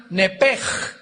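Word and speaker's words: נֶפֶשׁ: en el hebreo es nepesh, se pronuncia nepej, la CH en hebreo se pronuncia como J, nepesh, murió.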